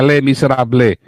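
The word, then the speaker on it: Les Misérables: Kalau tulisannya Les Miserables, kalau bacanya katanya Les Miserables. Iya, Les Ya, Miserables. bukan Les.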